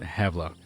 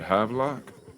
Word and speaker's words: Havelock: Think about like having a lock. A rat. Is that Havlock? Yeah. Havlock.